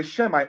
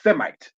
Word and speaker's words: Semite: Then we see Aram, or they say the Shemite, or their mispronunciation as Semite.